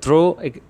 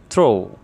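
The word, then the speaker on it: through: Number seven, থ্রো, আমরা দ্রো, এই উচ্চারণটা দ্রো না দ হবে না থ হবে, সো বলতে পারি থ্রো those scratches he ড্রইউ the helplessness and deprivation of the poor people.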